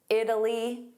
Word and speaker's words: Italy: Italy, soft D.